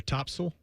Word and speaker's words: Topsail: A little Surf City or Topsail.